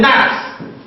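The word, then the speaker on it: gnat: Then it can also be realized by GN as in nat. Nat. The G is silent, so you have nat.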